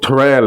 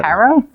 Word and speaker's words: Terrell: But so Terrell is how you pronounce that woman's name. You were wondering about that. Terrell. I was like, Carol?